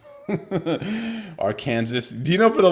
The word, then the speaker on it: Arkansas: with somebody just like no clearly it's Aransas and she like no it's Arkansas just like what where's the saw you know man that's